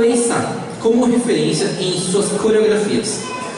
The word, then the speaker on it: Eisa: Eles tocam aí o taiko tradicional de Okinawa, o Eisa, pronuncia-se Eisa.